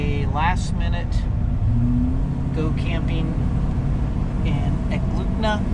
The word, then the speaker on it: Eklutna: Today we just decided to make a last minute go camping in Eklutna. I'm saying it wrong. Eklutna. Eklutna? Eklutna. Okay, that place.